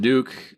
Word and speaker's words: Duque: Earl, but it is, I think it's pronounced Duke. Mike is going to hop on here in 1 second and tell me how stupid I am for mispronouncing it. I mean, I think you're right, even though in my head I say Dooku, like Count Dooku.